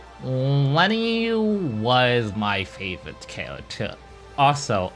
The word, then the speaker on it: Lenne: But let us go to my favorite character, the one that kept at the top, Lenne. Lenne was my favorite character. Also, I found out, yes, her name's actually pronounced Len, but I'm going to